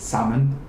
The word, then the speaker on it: salmon: say that again Simon how do you pronounce it salmon that's how you're supposed have you seen a